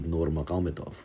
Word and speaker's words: Nurmagomedov: script for english speaking audiences and it's typically pronounced khabib nurmagomedov right and that parallels how it's written in